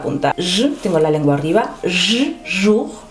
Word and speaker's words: jour: Jour. Fíjate que aquí tienes OU y OU se pronuncia U. No es O, es U.